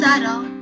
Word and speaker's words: subtle: Her grammar is always right, you don't pronounce the B in subtle.